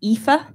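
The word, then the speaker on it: Aoife: you my name is ifa if you want to flick to the the directors so that one is me you pronounce the name ifa backwards drop a couple of the letters and i am the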